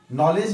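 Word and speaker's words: knowledge: जैसे नो, नॉलेज भी के से पहले आया है तो वहां भी क्या है, वो साइलेंट है।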